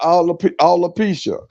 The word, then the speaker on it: alopecia: He ain't saying alopecia, he's saying all the He peaches.